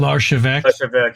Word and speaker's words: Larchevêque: But anyways, they another co-founder of Ledger, his name is Eric Larchevêque. I might be mispronouncing that. Larchevêque, yes. Yes.